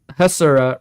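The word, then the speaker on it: Hasura: And speaking of Hassura, just like man, really unfortunate name because anyone who speaks Spanish would know that Hassura rhymes with Basura, which is trash.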